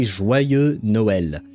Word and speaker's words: Joyeux Noël: You say Joyeux Noël. I don't know how to write it phonetically to help.